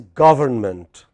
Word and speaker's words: government: What is the proper word? Government. Government. But if you spoke in a hurry, like in many languages, many Indian languages, we say government. We eat away 2 or 3 syllables for breakfast or lunch.